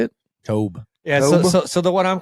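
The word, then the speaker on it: Toub: I did see we signed Spags and Dave Tope. Dave Tobe. Good signage. Yep. Tobe, how you say it? Tobe.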